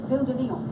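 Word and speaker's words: Ville de Lyon: Ville de Leon.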